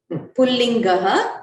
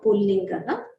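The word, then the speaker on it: पुंलिङ्गः: Pullingaha with the Visarga you have to pronounce because it is an adjective to Shabdaha. So Ikarantaha Pullingaha Dvishabdaha.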